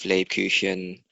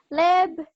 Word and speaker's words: Lebkuchen: It's the same sound as ich.